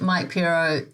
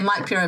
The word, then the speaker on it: Mike Pero: to say it right if you just say Mike purro mortgages that does not sound right at all it's not the name